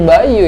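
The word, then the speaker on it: by.U: Buy U atau Buy You. Ya, jadi dibacanya jadi Bayu ya.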